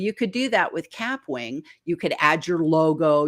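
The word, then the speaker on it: Kapwing: And so on the desktop, the one I love to recommend for newbies is Capwing, and it's spelled with a K, Capwing.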